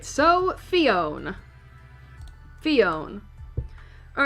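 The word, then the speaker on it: Phione: All right, so Fion. Fion. All right, so Fon, uh, which is the same in Japanese, but it's pronounced Fion, is known as the Sea Drifter Pokemon.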